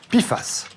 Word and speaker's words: PFAS: per et polyfluuroalchylé et ça se prononce piface l'industrie en raffolle car